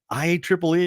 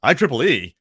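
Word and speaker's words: IEEE: let me finish I I think it's i e he goes I Triple E he goes oh my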